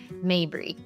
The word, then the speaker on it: Mabry: Mabri. Mabri. Yes. I was going to pronounce it incorrectly.